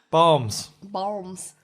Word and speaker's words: balms: Balms. Balms. B-A-L-M-S, but you don't pronounce the L.